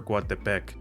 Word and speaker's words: Coatepec: but for this video, the original Nahuatl way stresses the penultimate, aka the second to last vowel. The same goes for Coatepec, aka Coatepec.